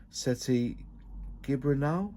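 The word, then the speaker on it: Sete Gibernau: So Global Stampede, Valentino struggled until he managed to pass Seti Gibranal, that's how you say it, in 2004.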